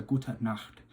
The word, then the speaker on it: Gute Nacht: on the end, and the CH sound you really want to get from the back of the throat, so it's a Gute Nacht. So we have Guten Morgen, Hallo, Guten Abend, and Gute Nacht.